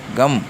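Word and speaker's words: गं: சாஸ்திர ரீதியா சொல்லப்படுது இ நிறைய பேர் கம் கம் என்று வெல்கம் என்ற போல சொல்லுவாங்க ஆனா கம் கம் ஜி யு எம் கம் என்ற உச்சரிப்பு வரவேண்டும் அழுத்தம் கொடுத்து உச்சரிக்க வேண்டும் இதற்கு நியாசங்கள் பூஜை விதிகள்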